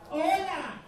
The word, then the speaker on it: hola: H-O-L-A. Hola. She remembered the H is silent. Do not say hola. You're going to say hola. Everybody, hola. Hola.